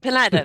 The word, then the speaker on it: Pineda: Am I pronouncing it correctly? We're going to be Pineda, talking yeah. Pineda.